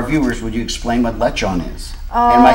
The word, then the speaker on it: lechon: For our viewers, would you explain what lechon is?